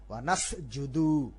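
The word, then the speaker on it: ونسجد: ওয়া লাকা নুসাল্লি, ওয়া লাকা নুসাল্লি ওয়া নাসজুদু, ওয়া নাসজুদু জিমের উচ্চারণ করা, ওয়া নাসজুদু, দু আবার টান হয়ে গেল, টান হবে না। ওয়া নাসজুদু, ওয়া নাসজুদু ওয়া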